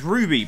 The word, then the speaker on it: RWBY: RWBY, as we kind of struggled to figure out what it was last week, is Ruby, but spelled with a W instead of a U.